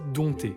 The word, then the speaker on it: dompter: Vous connaissez sûrement le mot dompter, sauf qu'en réalité, le P ne se prononce absolument pas. Ça se dit dompter.